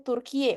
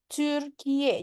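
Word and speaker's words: Türkiye: Nah, kalau orang Indonesia mungkin bacanya Turkiye, udah kayak gitu ya. Nah, kalau orang Turki itu ngomongnya ini Turkiye. Jadi U-nya itu ketika baca U, bibirnya dibonyongin sedikit. Jadi Turkiye.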